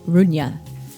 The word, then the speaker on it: Rugna: Tonight we are talking about Argentinian export when evil lurks directed by Demian Runa. I hope I'm saying that right. How would you pronounce it?